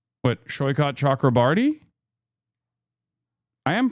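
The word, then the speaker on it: Saikat Chakrabarti: Shyot Chakraarti, I am pronouncing his name correctly.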